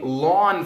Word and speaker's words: ln: dip that is saying lon 42 now it's pronounced like I'm gonna mow my lawn lawm however it's it's